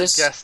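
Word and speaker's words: Ghetsis: How do you pronounce it? It's Gestis. something weird. I think What? it's like Gestis. Yeah, it's not Gestus?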